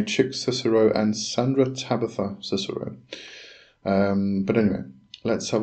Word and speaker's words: Cicero: Israel regi and chick Sis cisero Sis cisero yes it is I'm sure it's pronounced Cicero um and his his